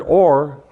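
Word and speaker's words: עור: Now, the word or, skin, starts with an ayin. The word light, just light, starts with an aleph. But that's the only difference. But they're pronounced the same, they sound the same, and they have the same meaning.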